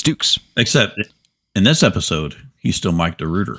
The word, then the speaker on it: Dukes: I always said Dorian Vanu or Dorian Vano, but it's Dukes.